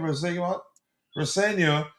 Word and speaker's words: Rosenior: Rosenior, if he wants him, we could see him again.